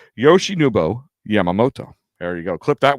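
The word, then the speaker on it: Yoshinobu Yamamoto: It's actually how it's spelled, how it's it sounds how it's spelled, but it's just your tongue can trip over it. Yoshi Nubo Yamamoto.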